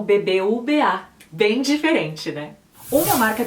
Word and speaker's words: BBVA: Então, o nome do banco é pronunciado como BBVA.